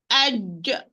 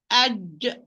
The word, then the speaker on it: ج: Aj. Try it. Aj.